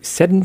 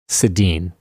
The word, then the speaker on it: Sedin: Did you seriously just pronounce them Seddon twins? The Seddon twins. Sedin. It doesn't have the umlaut.